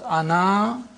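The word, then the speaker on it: أنا: words this means that the alif is not pronounced in continuous reading but it is to be pronounced in the pausal form when you pause ana you read the alif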